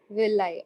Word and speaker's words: villi: is called as the Villi how do you pronounce it will lie okay so when there